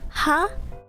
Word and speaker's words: は: What I was talking about is that ha is often pronounced as wa when it means is. But in words, it's not pronounced wa.